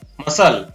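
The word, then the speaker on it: muscle: शब्द के अंत में SCLE हो तो उसमें C का उच्चारण नहीं होता है।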